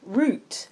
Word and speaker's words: route: oh we like that Xavier said root like an English person in the diary route in America though yeah but then I